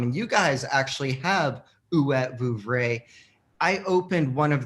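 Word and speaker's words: Huet: Well, I got some from Ouet, and that's how you pronounce it.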